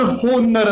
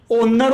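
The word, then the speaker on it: honour: यहाँ पर होनर नहीं होता है बेटा, कभी भी ओनर होता है। क्या होता है, ओनर होता है। आप कभी भी होनर मत बोला करो, कई बच्चों की आदत होती है होनरेबल बोलते हैं, होनरेबल कभी नहीं होता है, ओनरेबल ही होता है।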